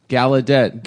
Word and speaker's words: Gallaudet: You know that's not how it's pronounced? Gallaudet. No, it's this whole time I thought it was Gallaudet, but apparently it's Gallaudet.